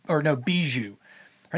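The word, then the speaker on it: Bijou: don't know who that is, her name is Bougie. I think it's pronounced or no, Beiju.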